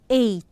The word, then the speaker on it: eight: can you say what is this this is 8 8 ok and this is the word knee